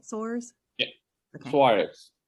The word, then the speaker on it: Soares: Soares. Soares. Emphasize the A.